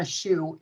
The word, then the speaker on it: Schuh: And my last name, even though it's pronounced just like the one on your foot, it's spelled Schuh.